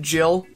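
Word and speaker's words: gil: first it'll be seventy jail now for God's sake and yes we pronounce it Jill how could you do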